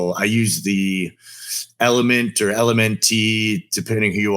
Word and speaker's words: LMNT: Like I use the Element or LMNT, depending who you are. People pronounce it differently.